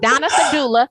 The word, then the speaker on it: Donna Serdula: And today I have Donna Serdula. Did I pronounce that correctly? I did. I You did. did. I did. I You pronounced it totally correctly. Yes, did. I have Donna Serdula.